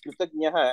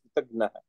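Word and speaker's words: कृतज्ञः: People pronounce Kritagnyaha as Kritagnaha.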